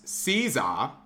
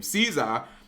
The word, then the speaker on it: SZA: But, like, the main theme from the first Black Panther song, which was All the Stars, it was Caesar, which apparently that's how you say her name, Caesar, and Kendrick Lamar.